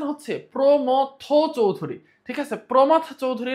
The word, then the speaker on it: প্রমথ চৌধুরী: প্রমথ চৌধুরী ঠিক আছে প্রমথ চৌধুরী না প্রথম চৌধুরী না অনেকেই হচ্ছে এটার নাম উচ্চারণ করতে পারে না ঠিক মত প্রমথ চৌধুরী ওকে ওকে প্রমথ চৌধুরীর